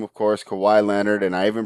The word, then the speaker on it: Kawhi: injury report uh the big name of course kawhi leonard and i even pronounced it right so you gotta be proud